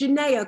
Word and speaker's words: Janaya: It's Janaya, correct? Yes, it is Janaya.